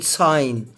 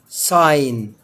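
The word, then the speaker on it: sign: ما انتم شايفين كده زي كلمه ساين يعني علامه او اشاره ساين منطقتش ما قلتش سجن سين لان الجي جاي وراه حرف الايه الان زي كلمه ها ديزاين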